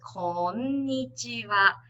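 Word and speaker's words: こんにちは: What you should do is, in Japanese, okay, each syllable is equal length. So if you read it, it's こんにちは. Not like English, where when you read tomato, the middle part is longer, like tomato. It's tomato in Japanese. So remember, every syllable is equally the same, the length.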